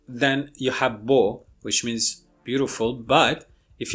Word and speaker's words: beau: The same vowel, if it's pronounced with the velum raised, which means the nasal cavity is closed, then you have beau, which means beautiful.